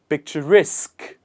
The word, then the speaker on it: picturesque: The stress here is picture. It is on the first part, and we say picture. But in the second word, the stress is on picturesque. Picturesque. The stress comes towards the other side of the word.